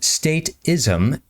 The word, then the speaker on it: statism: It goes by the name of statism. Pronounced stateism, it's the psychology that